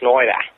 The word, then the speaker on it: Schneider: Saturday night yeah uh I love the way people pronounce my name in Australia schneer with Rob schneer it's really it's fantastic